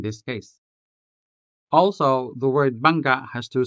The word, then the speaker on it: bangga: Let's take the word bangga, for example. Bangga. Notice the hard vowel at the end.